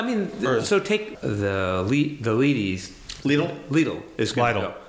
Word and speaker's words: Lidl: Lidl is going to go. Lidl. That whole area. Lidl. Part of Lidl. I don't remember how to pronounce it. It rhymes with needle.